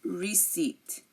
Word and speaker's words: receipt: we have raspberry and receipt so coup cupboard raspberry receipt if you notice I did not pronounce this p in any of these words and these are just